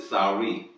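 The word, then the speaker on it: Sarai: h a r a n then Abraham took Sor s a r a i you could say s but they pronounce it Sor his wife and lot his brother's son and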